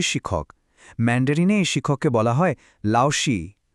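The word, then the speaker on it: 老师: ম্যান্ডারিনে শিক্ষককে বলা হয় লাউসি। উচ্চারণটা হবে লাওসি।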